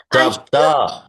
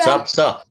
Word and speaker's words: सप्त: पंच षट सप्तः अष्ट सप्त सप्तः तः नहीं त केवल त सप्त अष्ट नव दश दश